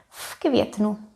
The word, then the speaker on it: v květnu: It affects V and it becomes F. V květnu.